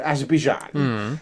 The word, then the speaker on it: Azerbaijan: Because when he lands in Azerbaijan, that's how you say it, Azerbaijan, it's like proper hot desert, right?